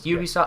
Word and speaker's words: Ubisoft: they're smaller games by Ubisoft. But am I pronouncing that right? Yeah, I think it's Ubisoft. Well, I think it's Ubisoft because it's Uplay, not Uplay.